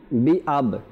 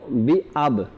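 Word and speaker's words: بِأَبْ: জি দর্শক অনেককেই আমি শুনেছি এখানে বি আবা, আবা মনে হয় এখানে জবর দিয়ে পড়ার উচ্চারণটা আসে। তো এখানে কলকলার জন্য হোক বা যে কারণে হোক আমরা যেন জবরটা না বলি এখানে, জি জি আবা, আবা যদি বলে দিই তাহলে জবরটা চলে আসে। তো বি আব, জি জি বি আব উচ্চারণটা হবে বি আব।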